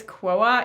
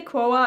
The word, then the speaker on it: Quo: how you pronounce it she wrote a little uh note in the package saying it was pronounced like woah so i'm guessing it's quoa even though it's written like q-u-o so i'm gonna say quoa